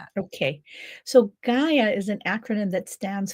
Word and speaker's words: Gaia: It's G. Gaia, just like the Earth, Gaia. Gaia. Okay. So, talk to us about the Gaia method because you go into great detail about that. Okay. So, Gaia is an acronym that